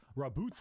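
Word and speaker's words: Roboute: Primarch, Rabute Rabute, okay.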